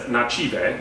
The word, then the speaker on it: Nativa: Uh it's called the it's from Nativa, which is spelled native, Yeah. but in Brazil, it's Nativa.